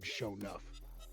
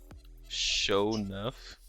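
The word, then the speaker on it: Sho'nuff: My next character is going to be a monk named Shonuff. Show enough.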